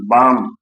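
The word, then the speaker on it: balm: है तो यल का उच्चारण नहीं, यल का उच्चारण नहीं हुआ। हथेली, काम, सी ए एल एम, काम माने शांत। बाम, बी ए एल एम, बाम, बाम means मरहम।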